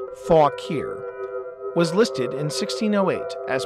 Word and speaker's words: Fauquier: William County Fauquier County and that is pronounced fawk here was listed in 1608